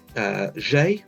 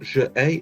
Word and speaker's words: j'ai: habite meaning live, but whenever je is followed by a vowel or the letter H, which counts as a vowel in French, it changes to J apostrophe, and notice it means that it's all pronounced as one word or one sound. So j'ai, which means I have, J apostrophe AI, just j'ai. It's not je ai, it's not two separate sounds, just j'ai.